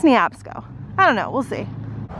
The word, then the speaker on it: Neabsco: I kind of want to call it Nabisco, but I think it's Neabsco.